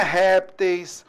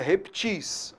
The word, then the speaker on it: reptis: O plural de reptil não é repteis, não é répteis. O plural de reptil é reptis.